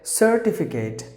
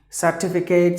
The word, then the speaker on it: certificate: Certificate, not Kate. Please don't say it as Kate, the ending.